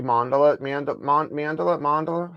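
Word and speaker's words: mandala: It is pronounced as Mundela. Mundela.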